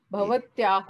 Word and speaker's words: भवतः: भवान भवती भव वो क्या होएगा दूसरा भवत्याह ये हो गया। हाँ और भवत्याह मेल क्या लड़की, है भवत भवतः भवत। भवतः, विसर्ग को अलग से आप उच्चारण करेंगे हमेशा भवतः।